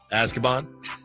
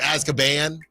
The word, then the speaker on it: Azkaban: Hey, the prisoner of Azkaban.